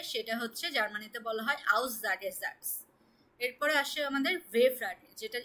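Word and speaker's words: Aussagesatz: তো আজকে হচ্ছে আমরা অ্যাসার্টিভ, এটা হচ্ছে আউসজাগেসাটস। প্রনাউন্সিয়েশনটা করুন আপু। আউসজাগে, আউসটা আলাদা প্রনাউন্সিয়েশন করুন। এই যে এইটুকু হচ্ছে আউস, তারপর এস সিঙ্গেল থাকলে জয়ের মতো উচ্চারণ হবে আউসজাগে। জাগে, জাগে, জাটস।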